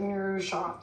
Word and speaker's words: Noosa: I don't think you got the memo, but anytime you say Noosa, you actually have to pronounce it Noosa.